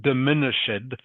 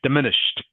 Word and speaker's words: diminished: And again, this is one of these ed words that is pronounced like a t is on the end. So, it's not diminished, it's diminished.